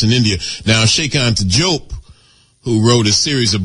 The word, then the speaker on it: Diop: Now, Sheikh Anta Diop, who wrote a series of books. This is the great African scholar from Senegal. Some people pronounce his name Diop, D-I-O-P.